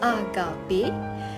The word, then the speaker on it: Agape: Finally, we have Agape, pronounced Agape.